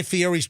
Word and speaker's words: Fieri: You got to Guy say Fieri.